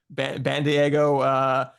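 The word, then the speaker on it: Bandaogo: The pronunciation, guys, is band-ae-go. I don't know how you pronounce AE, so Bandiego or 6'11" Jameel Reynolds.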